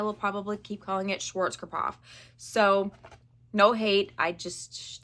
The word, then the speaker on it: Schwarzkopf: apparently I make things hard so it is Schwarz cough in Schwarz cof palette now will I remember that that's how you pronounce it in the future probably not and I will probably keep calling it Schwarz kof so no hate I just that's just how